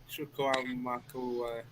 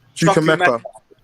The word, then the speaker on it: Chukwuemeka: Can you pronounce his name again? Chukwuemeka. Chukwuemeka.